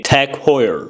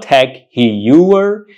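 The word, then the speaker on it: TAG Heuer: couple of its watches you should say I'm here to buy a tech Hoyer watch so it's not Tech heer it's Tech Hoyer and finally we get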